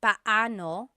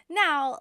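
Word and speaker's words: paano: It's technically pano. Bano when there are two vocab or when there are two vowels together, you say them separately. But when speaking quickly, Filipinos just say now let's practice using pano and gano in some questions.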